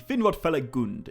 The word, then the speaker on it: Finrod Felagund: number two beren and finrod feligund or actually finrod feligund is i think how i should be saying that i've been mispronouncing my favorite else name this whole time